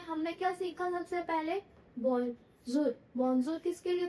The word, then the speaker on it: bonjour: हमने क्या सीखा सबसे पहले, बोंजूर। बोंजूर किसके लिए था, हेलो या फिर गुड डे। इसकी प्रोनाउंसिएशन क्या थी?